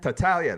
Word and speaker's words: Tartaglia: Now I got to tell you, I'm a serial name killer, so I apologize if I say your last name wrong. But Tartaglia. Tartaglia, that's it.